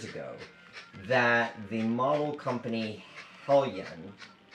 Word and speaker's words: Heljan: And I discovered a couple of years ago that the model company Heljan, with the J, H-E-L-J-A-N, so Heljan, I think is how it's pronounced, back in the 70s